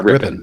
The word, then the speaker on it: Ripon: Am I pronouncing that right? It's a great Ripon. Yeah, Ripon.